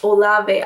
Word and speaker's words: Olave: It's Olave. I know how to pronounce it now.